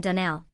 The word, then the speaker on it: Donnell: morning connected with the Donnell children. "Clarice Almira told me that you pronounced our name Donnell." "Now, Miss Shirley, the correct pronunciation of our name is Donnell, accent on the last syllable.